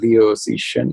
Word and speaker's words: Liu Cixin: over the holidays was The Three-Body Problem by Liu Cixin. And now everyone who speaks Chinese is going to laugh at my pronunciation.